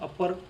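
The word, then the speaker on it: upper: जैसे U double P आर अपर अपर berth lower berth में जो अपर शब्द आता है वो क्या है? ऊपर के लिए हम प्रयोग होता है। उर्ध्व शब्द था उर्ध्व का ऊपर हुआ। ऊपर का यू डबल पी आर हुआ। लेकिन हम उसका उच्चारण क्या कर रहे हैं? अपर बर्थ या फिर लोअर बर्थ अपर कर रहे हैं। अ की तरह कर रहे यू की तरह नहीं कर रहे।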